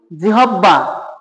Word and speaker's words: জিহ্বা: আমরা যে স্বাদ অনুভব করি সেই রসনা, এই রসনা, এই রসনা অর্থে এই জিহ্বা, এটাকে আমরা বলি জিহব্বা, যার উচ্চারণ হবে জিহ্বা।